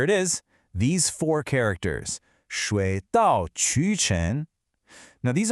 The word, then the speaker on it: 水: All right, first up, this character is Shui. It's pronounced Shui, and it means water.